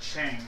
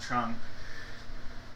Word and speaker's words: Chang: I think it was actually pronounced Chang for Yuchang, not Chong.